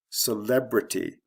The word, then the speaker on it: celebrity: Celebrity, again from the first to second syllable.